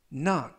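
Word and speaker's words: knock: 이범 피어는 나 으 나얼 끝 나 라고 발음 하시면 되겠구요 이 때 유의하실 점은 첫 번째 있는 알파 박 알파벳 k 는 이번 단어에서 묵음 이라서 발음이 되지 않습니다 품사는 동사 뜻은 똑똑 두드리다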